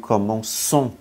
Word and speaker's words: commençons: Khi mà không có chữ cedil thì chúng ta sẽ phát âm là nous commençons. Cung. Phát âm nó không ra cái gì cả. Commençons. Nó không ra cái gì cả. Cho nên nó biến thành chữ c, cedil để phát âm thành commençons.